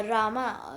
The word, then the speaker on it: राम: तो guys, actually हुआ क्या था कि फर्स्ट डे पे जो रामा, जो मतलब के प्रिंस रामा थे, उनका वो किंग बनने वाले थे। एक्चुअली प्रिंस राम, मतलब आपको रामा नहीं राम, एक्चुअली उनको रामा बोलते